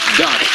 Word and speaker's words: Dottie: Dottie. Dottie as in daughter. Yes, Dottie. But anyway, we'll pronounce it as if it's D-O-T-T-I-E. Mm, close enough. Close enough? It rhymes with naughty.